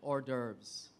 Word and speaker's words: hors d'oeuvres: r e s order it's French that's why the e at the end you don't normally s uh ex say it or if you're pronouncing the word but it's been anglicized so people can say hors d'oeuvres as well it's actually French so